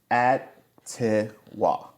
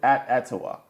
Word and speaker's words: Atiwa: Atiwa. I would say that's Atiwa. Atiwa. Atiwa. Atiwa. Tiwa. Not Atiwa, because it would be like, No, the ad he's saying is the yeah, is the emphasis.